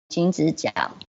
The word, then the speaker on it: Jingzijiao: This is a salt field, and the name is spelled Jingzijiao, and it's pronounced Jingzijiao.